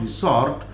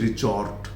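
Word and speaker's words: resort: दूसरा इसका pronunciation रिसॉर्ट नहीं कहेंगे। मैंने बहुत लोगों को इसको रिसॉर्ट कहते हुए सुना है। This is नॉट रिसॉर्ट, this is रिजॉर्ट।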